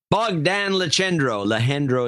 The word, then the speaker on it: Bogdan Lehendro: Sir Bogdan Lehendro is the way he wants it pronounced, which is the way to pronounce it, in Roanoke, Texas, sir.